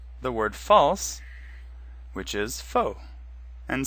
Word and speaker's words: faux: notice that foe is pronounced exactly the same as foe it's also the same as the word false which is faux and spelled the same